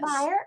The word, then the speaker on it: Beyer: So, am I pronouncing that correctly? Yes. Beyer?